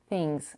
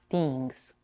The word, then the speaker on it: things: In the word things, we have the lax I, things, and not things.